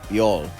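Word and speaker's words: 별: If you even look more directly at the characters, when you're looking at the Chinese character for it, it's actually pronounced in Korean, in Hangul, Byol.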